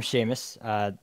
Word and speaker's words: Seamus: So as he said, I'm Seamus. How it's spelled on the bottom is not how it's pronounced.